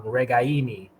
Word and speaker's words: Ragaini: apologize and his family but it is uh regaini it's right on the emphasis on the eye in the in the third syllable so um good goodbye by you to